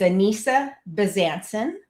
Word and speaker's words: Anissa Bezanson: So yeah, I answered to anything close to my when people say my name, but it's Anissa Besancen.